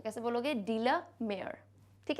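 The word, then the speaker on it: Walter de la Mare: आता है ना, तो इसको क्या बोलोगे, डीला, डी लमेयर, एक साथ बोल देना. वॉल्टर अलग से बोलोगे और जैसे मान लो ये पूरा ही सरनेम है तो कैसे बोलोगे, डीला मेयर.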